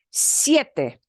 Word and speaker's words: siete: it is a diphthong it is an e a sound together siete siete siete okay and next we've